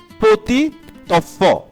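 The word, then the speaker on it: petit enfant: পতি of, normally হচ্ছে পতি এর উচ্চারণটা হবে পতি হবে, আর হচ্ছে অফ এর আলাদাভাবে যদি উচ্চারণ করি অফ হবে। বাট যেহেতু এটা লিয়াজো হয়েছে টি এবং ই, সো টিটা হচ্ছে কনসোনেন্ট, ইটা হচ্ছে ভয়েল। সো টিটা ই কে ধরেছে, দ্যাটস ওয়াই এটার উচ্চারণ হবে পতি, মানে শেষের টিটার উচ্চারণ হবে ত দিয়ে।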